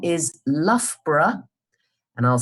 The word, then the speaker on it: Loughborough: So the place name is Loughborough, and I'll spell it for you.